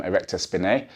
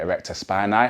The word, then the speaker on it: erector spinae: which is the Erectors I would call them erector spinae or some people call it erector spinai however you want to pronounce it that's going to be